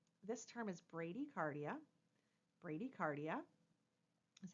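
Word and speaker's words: bradycardia: clue to you this term is Brady cardia Brady cardia is how it's pronounced and again if you need to hit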